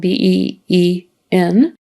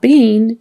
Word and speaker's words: been: this Ben even though Ben is spelled b e e n it's not being it's been why I don't know